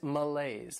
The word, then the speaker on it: malaise: Next is malaise. This word has 2 syllables and the stress is on that second syllable.